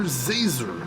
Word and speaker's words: Zazer: It's Professor Zazer, like laser with a Z.